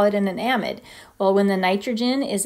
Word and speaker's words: amide: amide it looks like we should call it amide but it's pronounced amide and it doesn't matter what's attached to the